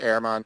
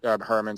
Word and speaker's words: Herrmann: points with walter herrmann i think it's pronounced airman but herman spelt herman um in i want